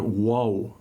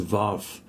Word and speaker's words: Waw: It's the Hebrew letter Waw, mispronounced popularly as Vav. It's Waw. Okay, so that is a deeper sound.